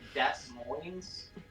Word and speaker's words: Des Moines: I mean, Des Moines. I should just pull up and be like, you're actually pronouncing the name of your city wrong. It's actually Des Moines.